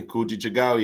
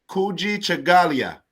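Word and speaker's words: Kujichagulia: marcus massage oh yeah so habani ghani habarigani kujichagawa yeah oh you said it like you like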